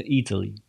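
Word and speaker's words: Eataly: Кстати, если будете здесь в Flat Iron Building, то вот здесь есть магазин, который называется Italy. Italy пишется не так, как Италия, а пишется как E-A-T-L-Y.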